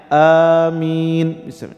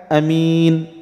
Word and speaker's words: آمين: Boleh diucapkan dengan kita memanjangkan amin, ya, boleh kita panjangkan a-nya, amin. Boleh kita pendekkan dengan kita katakan amin.